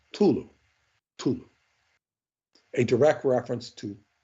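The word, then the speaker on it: Cthulhu: sea is silent and the word is pronounced Tulu Tulu a direct reference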